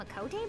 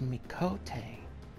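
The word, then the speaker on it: Miqo'te: really never seen him a Cote before you mean they're real very real oh it's pronounced me Cote okay let's go so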